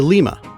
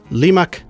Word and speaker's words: Lima: So Rimac, Limac, Lima. Also, did you know that lima beans are named after Lima, Peru? It's just a different pronunciation, same spelling.